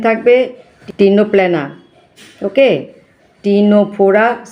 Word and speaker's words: Ctenoplana: ctenoplana. See উচ্চারণ এখানে হবে না, সি সাইলেন্ট থাকবে, ctenoplana.